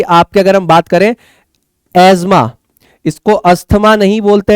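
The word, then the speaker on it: asthma: दुनिया में बहुत ज्यादा ज्ञानी लोग इसको एस्थमा बोलते हैं। इट्स नॉट एस्थमा, इट्स एज्मा। ठीक है, तो ये आपका एज्मा जो है ये आपको हो जाता है, ASMUH प्रोनाउंस होता है एज्मा।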